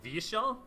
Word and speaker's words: Vyeshal: Y in the language it's always pronounced like yeah like like the like the constant like a vowel so so of this